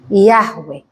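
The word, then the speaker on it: Yahweh: makan jagung panas bukan yhwh bacanya itu sama seperti anda bernafas ketika pertama sekali Anda lahir apa yang anda sebutkan yahwe ketika orang mau mati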